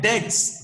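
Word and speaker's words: debts: एज बेडे बेड डेट्स अब देखिए इसको भी pronunciation known as बेड डेट्स बेड डेप्स नहीं बी साइलेंट रहता है नोन एज बेड डेट्स ठीक है और बेड डेट्स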